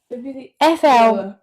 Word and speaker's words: flibbertigibbet: So my word of the week is flibbity gibbet. Flibbity gibbet. Flibbity gibbet. FLIBBERTIGIBBET.